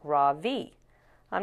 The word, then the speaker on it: Ravi: stands up really straight my name is not ravi he says it's pronounced raw v i'm not going to bother